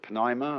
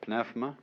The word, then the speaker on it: pneuma: The Greek word, you may pronounce it pneuma or pneuma, is the same as spirit.